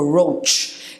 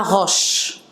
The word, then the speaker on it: roach: So les cafards, en général, it's called a roach. Et au pluriel, it's pronounced roaches. Okay? A butterfly, butterflies. Roach, it's roach. Pas roche, roach.